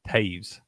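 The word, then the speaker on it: Toews: always mess this up it's like Taves Taves like OE for a lot of all these hockey players you see that OE like that it's pronounced with like an a who who else plays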